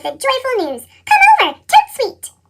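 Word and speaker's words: tout de suite: joyful news come over to sweet that's French for right away you say it like this to Sweet Nancy it's only 6:30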